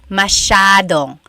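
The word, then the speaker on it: masyado: Elijah said, "How do you pronounce mashadong?" Mashado means a lot. So the s ya is a sha sound.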